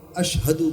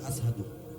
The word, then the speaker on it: আশহাদু: তিনি তো আশহাদু বলতে পারেন না, উনি বলেন আসহাদু।